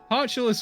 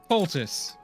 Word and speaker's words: poultice: Poultice, Honora. Yeah, I've never seen the word poultice pronounced, so I kept calling it Potulus.